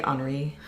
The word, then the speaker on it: Henri: But it's Henri. Yeah. Is how they spell it, which would be the French Henri.